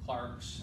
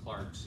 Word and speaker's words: clerks: and change by himself the clarks and i say clarks again because it's pronounced that way over there of the house